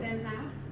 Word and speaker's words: Den Haag: You actually also go right into the midst of, like, say, The Hague in Amsterdam, or The Hague. Is that how you say it? Den Haag.